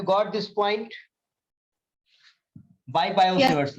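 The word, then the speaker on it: Biot-Savart: बाय बायो-सेवर्ट्स लॉ, बाय बायो-सेवर्ट्स लॉ। ये T silent होता है, ठीक। अब कोई बायोट पढ़ भी दे तो गोली थोड़ी मार।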